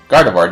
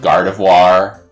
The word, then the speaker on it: Gardevoir: Au revoir. Get it? Because it rhymes with Gardevoir.